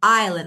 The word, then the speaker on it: island: Island. Let me Okay, this one. Island. S is silent.